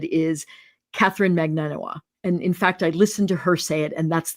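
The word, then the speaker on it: Magbanua: There's a B in there. Magnan Bua Bua. Um the way that I've heard it said is Katherine Magnanoa.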